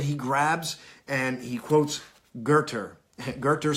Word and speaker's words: Goethe: It's a quote that he grabs, and he quotes Goethe. Goethe spelled Goethe, pronounced Goethe.